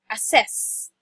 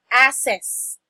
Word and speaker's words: assess: or a number two it should be assessed it's not assets but assess okay your your stress is on the second syllable okay it's not aa